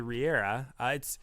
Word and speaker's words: Regera: So the Riera, or I call it Regera too. It doesn't really matter. Yeah, it doesn't matter how you pronounce it. It's like peach and potch.